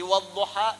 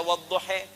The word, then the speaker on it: wadduha: Yang gak bisa baca A pakai E imalah. Jadi wadduha bisa dibaca wadduhe.